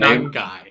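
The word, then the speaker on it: Monangai: Manungai.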